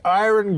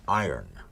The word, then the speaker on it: iron: You don't pronounce it iron. That's what everybody tells me. It's the iron horse. Like Lou Gehrig was the iron horse of baseball. Yes. The word I-R-O-N is iron. No, iron.